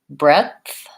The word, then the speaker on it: breadth: Okay, so breath has just the TH versus breadth has the D and TH.